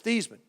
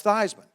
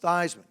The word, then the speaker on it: Theismann: pronounce your last name I said it's thiis Minh he said no it's not it's Theismann as no it's not it's easement he's no Joe your last name is pronounced Theismann I said give me